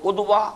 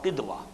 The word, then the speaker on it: قدوہ: Note کر لیجئے کہ اسوہ جو لفظ ہے اس کے 2 تلفظ ہیں، اسوہ بھی اور اسوہ بھی، اور بالکل پیرلل اس کے الفاظ ہیں قدوہ اور قدوہ۔ قدوۃ السالکین یہ آپ